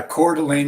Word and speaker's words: Coeur d'Alene: I'm going to probably butcher the pronunciation of this because I'm Southern. Coeur d'Alene? Yeah, Coeur d'Alene is where I live.